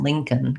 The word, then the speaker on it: Lincoln: k and an n lincoln can can a little bit of a schwa in there maybe but going right from the k to the n as much as possible lincoln first syllable stress and then lastly robert